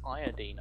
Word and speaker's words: iodine: Nice iodine, arsehole. Is it not iodine?